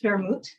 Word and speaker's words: vermouth: It's spelled W-E-R-M-U-T, but it's pronounced vermouth.